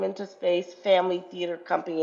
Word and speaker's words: Phamaly: And one of you mentioned, you brought this name into space, Family Theater Company, and that is spelled PHAMALY. Family stands for Physically Handicapped Actors and Musical Artists League.